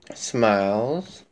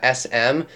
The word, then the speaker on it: SM1LEZz: Smiles. Okay. Whenever people say my YouTube name, they say like, SM, or they don't say it correctly. It's really pronounced smiles.